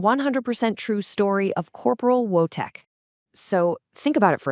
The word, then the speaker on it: Wojtek: It's pronounced Wojtek, and in Polish, it means happy warrior.